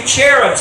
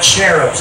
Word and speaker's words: cherubs: The cherubs, actually, not cherubs. I say cherubs, that's the English pronunciation, but it's actually in the Hebrew, the CH is pronounced like it's a hard HH, or cherubs.